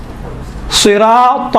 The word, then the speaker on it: صراط: کوئی زیادہ فرق نہیں ہے، اسی تا کا تلفظ کو تھوڑا موٹا بنائیں تو ہی بنتا ہے۔ صراط المستقیم، تل نہیں ہے، تل مستقیم، تھوڑا سا